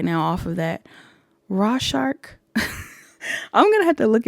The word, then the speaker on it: Rorschach: It was Rorschach.